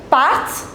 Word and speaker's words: partent: Ils partent et elles partent. Remember, we do not pronounce this ENT.